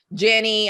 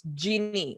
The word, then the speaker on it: Ginni: I get variants here over in the States, Kellen. I get Jenny, I get Jeannie, I get Jean, and I'm like, it's Ginni, like the drink. They're like, so Jean. I'm like, no, it's not Jean. So I called my company